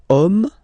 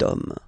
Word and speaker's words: homme: then here we've got the word homme, man, okay, but then it starts with H, as in French, H is not pronounced, so the first sound that we hear is O, okay, and then it will follow the same rule.